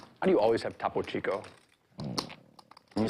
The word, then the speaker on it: Topo Chico: How do you always have Topo Chico? Can you say that You again? just find it. With Topo Chico? He said Tapo Chico. I heard it too.